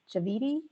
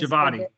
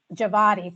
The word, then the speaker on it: Javadi: It was Lisa Reynolds, Hi Pham, Cyrus Javidi, weighing in to say it is Javadi. Javadi, thanks for that Yep.